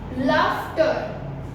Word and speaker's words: laughter: Laughter. Laughter. So here, this GH, the sound of GH is F.